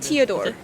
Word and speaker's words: Teodor: I want to say Theodore, but Teodor. Theodore. It's like Theodore, but without the H.